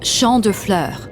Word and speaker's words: Champs de Fleurs: Champs de fleurs? How do you say that? It's Champ de Fleurs. It means field of flowers.